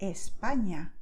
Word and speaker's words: España: The letter ñ has a special sound, which you can hear in the words España, Cañamel. Okay, it's more like when you say lasagna, okay, in Italian. Okay, in Italian it would be the letters GN, but in Spanish it's just N with this beautiful thingy above it.